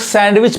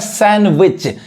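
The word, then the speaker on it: sandwich: ये ऐसा वर्ड है इसको भी लोग सैंडविच पढ़ते हैं जो कि गलत उच्चारण है सही क्या पढ़ाए है सैंडविच यानी यहां पे जो डी है वो डी साइलेंट है नहीं पढ़ाए सैंडविच यहां देखिए कॉम बी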